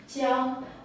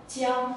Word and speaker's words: 江: His character is pronounced as Jiang, Jiang, and it means a river.